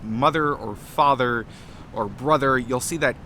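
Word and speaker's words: fadar: So that's why we have, for example, Old Norse father, and actually Gothic father, even though it's spelled with a D, it's actually pronounced as an eth.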